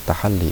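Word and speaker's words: تحلي: Dibacanya tahalli. Kalau yang ini takhalli, kalau yang kedua tahalli.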